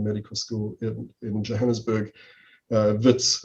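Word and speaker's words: Wits: school in johannesburg uh vitz affectionately known spelt with a w uh not a v um i entered uh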